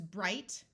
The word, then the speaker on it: bright: have happier and happiest IG G has a long I sound and the GH is silent so this is bright Brighter Brightest o uses